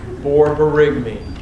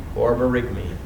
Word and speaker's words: borborygmi: Borborygmi. Increased vowel sound. Can you spell that one more time? B-O-R, and do it again, B-O-R-Y-G-M-I. Borborygmi.